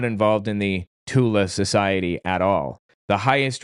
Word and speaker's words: Thule: Somebody says Thule Society. It's actually pronounced Tula, the Tula Society, because Germans can't pronounce the TH.